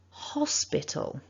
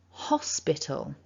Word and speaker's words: hospital: nice and loud following remember the stress and we've got three syllables hospital one more time hospital so going back to